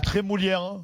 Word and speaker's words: Trémoulière: Il est très moulière. c'est pas Oui, prononcé maintenant, oui, correctement.